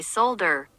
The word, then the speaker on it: solder: foreign how do you pronounce solder according to English stack exchange depends on if you are British or American the British say solder Americans say sadder and then in